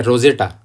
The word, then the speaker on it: Rosetta: इस पत्थर का नाम रोसेटा स्टोन क्यों पड़ा? क्योंकि जहां पर यह पत्थर मिला था उस शहर का नाम है राशिद, और ग्रीक में इसे रोसेटा कहते हैं, या रोजेटा उच्चारण ज़्यादा करते हैं इसका, रोजेटा कहते हैं,